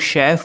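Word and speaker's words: chef: है कि हम लोग शेफ वर्ड में सी एच को श क्यों प्रोनाउंस करते हैं जैसे अगर आप केमिस्ट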